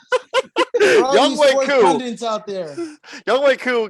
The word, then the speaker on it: Younghoe Koo: Younghoe Koo is how it's pronounced. Younghoe Koo. Younghoe Koo.